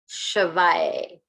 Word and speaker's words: Shivaya: to say it and then I'm going to spell it. The mantra to get in touch with Shiva is Om, O-M, Namah, N-A-M-A-Y, Shivaya, S-H-I-V-A.